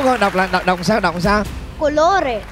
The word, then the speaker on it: colore: Đọc là đọc sao? Colore. Colore.